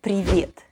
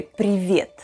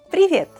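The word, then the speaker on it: привет: for the bonus tip the first word is privit it means hi in russian if you want to say hi in an informal setting in russian you say privet privet to say bye in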